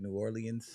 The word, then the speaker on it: New Orleans: New Orleans.